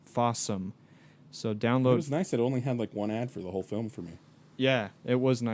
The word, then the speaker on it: Fawesome: But It's spelled like awesome, but with an F. But Fawesome.